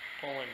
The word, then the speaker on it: Poulan: I don't wanna pull on this all day, even though it's a Poulan chainsaw. Poulan, that's how you pronounce it.